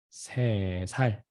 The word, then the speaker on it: 세 살: Actually, the 3 is 셋, 셋. But it's gonna be changing with 세. Then how you can pronounce it? 세 살, 세 살.